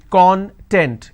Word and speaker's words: content: have the word content i break it into two syllables when i pronounce this as con content it means ingredient or index when i pronounce this as kan that means happiness or being happiness or being self-satisfied so these are the